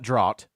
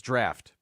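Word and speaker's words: draught: too uh it's not drought it's not drought it is draft it's not to be conf fused with a drought uh uh draft has an F sound in it but it's usually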